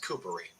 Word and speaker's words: Kupari: I pronounce it the way my entire family has, Coopery.